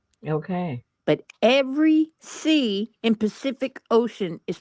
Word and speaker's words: Pacific Ocean: no Janice pafic so the first C is pronounced as a s the second C is pronounced as a k and the third C is pronounced as a sh Ocean Pacific Ocean like an s oopsie